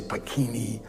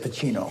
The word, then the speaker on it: Pacino: They always used to say Pacini or Pacino. He said Pacino, and I thought, okay.